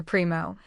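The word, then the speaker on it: Primeau: Primo. Is that how? Yes. That's spelled P-R-I-M-E-U.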